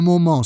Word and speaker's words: moment: Note that you shouldn't pronounce the first syllable of moment like in English, with two vowels, mo. In French, it's just one sound, mo.